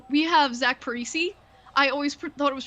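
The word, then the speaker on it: Zach Parise: i think i think wild fans always said paris a but maybe it's that's what i thought too like they always said pre-say and so i always pronounce it that way and then he comes here he's like this is zach parisi and i'm like oh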